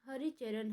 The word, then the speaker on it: हरिचरण: हरिचरना का शुद्ध उच्चारण हरिचरण है।